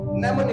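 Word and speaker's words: mnemonic: नेमोन code बोलते हैं नेमोन code am silent होता है एम एन ई एम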